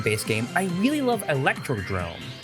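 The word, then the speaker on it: Electrodrome: Starting with the base game, I really love Electro Drrome. Yes, that's how it's actually pronounced. It's not Electrodome.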